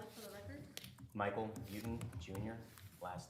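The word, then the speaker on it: Beauton: Please state your name and spell it for the record. Michael Buten Jr., last name B-E-A-U-T-O-N.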